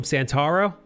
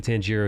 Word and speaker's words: Tanjiro: It's because Inosuke pronounces his name wrong yet again. He called him Santaro?